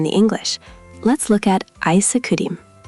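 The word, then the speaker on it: 아이스크림: Koreans add a vowel sound after certain consonants because Korean syllables prefer to end with simple sounds. It's ah-ee-suh-kuh-dim rather than ice cream.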